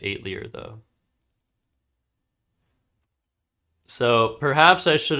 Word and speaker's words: atelier: Yeah, it's Atelier. I like pronouncing it 8 Lear though.